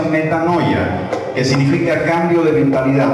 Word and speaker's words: metanoia: La palabra arrepentimiento viene del concepto que traducido al español se pronuncia metanoia, que significa cambio de mentalidad.